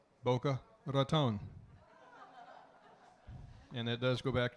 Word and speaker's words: Boca Raton: And of course, if you speak Spanish, you know how you pronounce that. Boca Raton.